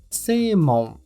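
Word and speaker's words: 正門: também vemos na palavra semon semon preste atenção ao prolongamento da primeira sílaba C C o seu significado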